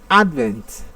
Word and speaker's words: advent: saying the auto of option c a advent the stressful on the first syllable although it is a